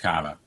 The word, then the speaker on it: Carver: Well, I can say I live in Carver, but it's pronounced Cava.